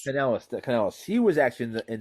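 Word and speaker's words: Kanellis: Maria Canelia? Canellis.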